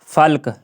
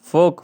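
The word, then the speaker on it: folk: इसके आगे जो है के जो है के, जैसे के से साइलेंट देखो, जैसे कि के फल्क, फल, फोल्क, फोल्क, फोल्क, फोल्क, फोक, फोक, फोक, फोक, फोक, फोक, यहाँ पे जो है फोक है, फोक हो गया।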